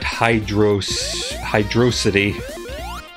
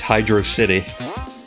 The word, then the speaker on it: Hydro City: But we're at Hydrosity. It's Hydro City. If you pronounce it Hydrosity, you are a felon and cannot be trusted.